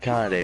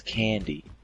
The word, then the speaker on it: Kanade: It's not Kanade, remember, it's Candy.